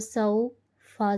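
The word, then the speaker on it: سَوْفَ: Sin waw zabar saw, fa zabar fa, sawfa. When there is zabar before waw sakin, it becomes waw leen. Pronounce the letter of leen gently in Arabic accent without any elongation and jerk.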